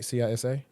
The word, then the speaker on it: CISA: remember the last dude that was over uh CISA I think that's how you pronounce it right CISA.